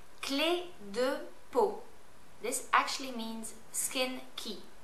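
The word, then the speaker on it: Clé de Peau: Just say it phonetically like I say it. All right, let's start. Yves Saint Laurent. Vichy. Bourjois. Cle de Peau.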